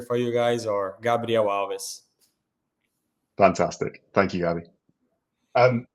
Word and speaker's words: Alves: to start it off how do you pronounce your name in Portuguese we've got a bit of a history in This Club of mispronouncing people's names horribly yeah uh Gabrielle is my first name uh and then my last name is alides Alves but you can just call me gabby if it's easier for you guys or